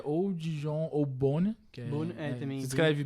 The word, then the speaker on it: Beaune: E na Bourgogne, dá pra você ficar em 2 cidades, que é ou Dijon ou Beaune, que também. Se escreve B-E-A-U-N-E, porque é a pronúncia, né?